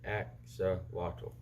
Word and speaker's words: axolotl: in case you're wondering my name is pronounced AXA wattle near spice spice brush